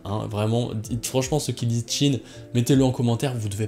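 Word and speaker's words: Qin: corrige sur la prononciation de l'état de Quine dans Kingdom qui se dit Chine assez bon les gars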